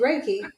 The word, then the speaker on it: Reiki: of the ladies that was there she did Reiki and that's how you pronounce it and I had a migraine that